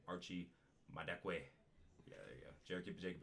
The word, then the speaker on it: Madekwe: I gotta pronounce that right. Archie Madekwe.